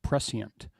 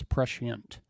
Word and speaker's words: prescient: And but I realized I was saying it wrong for a long time. I thought it was prescient, but it's prescient.